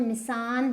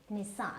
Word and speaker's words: Nissan: So this is not Nissan, this is Nissan.